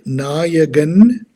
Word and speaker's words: Nayagan: My name is Nayagan. It's pronounced Nayagan, and a sitter and